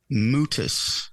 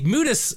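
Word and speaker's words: Mutis: spit green stuff yeah mutus how do you spell that m t i s it's like mucus but different pretty different let's see mutas four years in the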